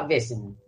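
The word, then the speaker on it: Vaesen: Según el autor, como esto es, creo que es Suecia, sí, sueco el autor, les digo que se pronunciaba Baesen.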